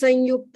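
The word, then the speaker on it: संयुक्त: So, how do we pronounce Sanyukta? Is it with the ma or with the na? Sanyukta. Sanyukta is right, and people are used to Sanyukta, but you're right, it should be Sanyukta.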